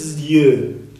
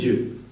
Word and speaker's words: yeux: Un oeil, un oeil, un ojo, pero decimos deux yeux, deux yeux.